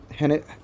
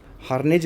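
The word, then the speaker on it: harangue: Okay, हैंग्रेज, okay, हैने, sorry ये गलत प्रोनाउंस कर रहा हूँ मैं। हार्नेज इसको बोला जाता है।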